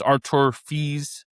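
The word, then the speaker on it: Arthur Fils: Arthur because it's Arthur it's spelled Arthur Phils but I believe it's Arur Fees got like Gon Feast but that 22 years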